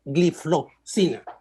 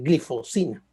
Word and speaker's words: gliflozina: Realmente se debería pronunciar gliflozina y uno se acostumbra a decir glifosina, pero es gliflozina.